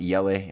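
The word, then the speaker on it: Eli: And it's cool because you know, Ellie. I don't know how they pronounce. Yelle is how they pronounce her name.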